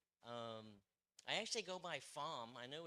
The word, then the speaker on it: Pham: That if you would ask, most people would say Pham. But I do go by Pham, Pham.